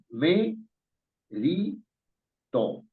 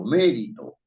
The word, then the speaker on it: mérito: Fíjense, acá hay tres sílabas. Me, ri, to. Y la fuerza de la voz está en me. Uno no dice merito ni meritó, sino mérito.